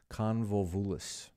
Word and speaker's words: Convolvulus: He saw it creeping into the stained trumpus of a Tyrian convolvulus. Convolvulus. Yeah, I did pronounce that right.